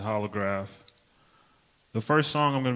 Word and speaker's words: jolograf: Hey, I'm Holograph. I know that's spelled with a J, but you just pronounce it Holograph.